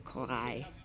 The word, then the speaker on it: Corail: I was politely told that I was saying it wrong, so it is Corail.